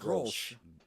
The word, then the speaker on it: Grolsch: How do you pronounce this beer before we go into Severance? Grolsch. This is the whitest beer I've ever drunk. I told you. This is it, Grolsch.